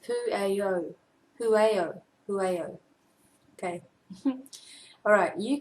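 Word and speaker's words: Pueo: And it is a Hawaiian owl, and it is pronounced Pu'eo.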